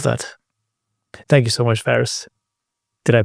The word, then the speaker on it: Faris: quicker I love that thank you so much Ferris did I pronounce this correctly yes you do thank you